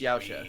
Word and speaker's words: Yautja: He's saying it the fucking weird way. The weird way from how like a lot of the narrators in the audiobooks pronounce it. Yautja. When it's just Yautja.